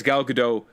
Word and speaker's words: Gal Gadot: how to say it it's like good dope but it's not a hard like - it's like good dope put is very light nobody you pronounce the T anyways gal gadot John